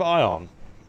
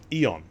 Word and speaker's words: Eon: following by order of ion eon eon that's how it's pronounced Eon due